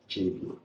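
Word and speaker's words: Tsévié: The town in which we are is called Chevier. Chevier. Yes. But it's spelled T. Spell it for me. Yeah. T X E I E. So it's Chevier.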